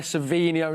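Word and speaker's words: Savinho: I want to say Savio thank you so much M you're close just missing the end there sveno is how we pronounce her our new boy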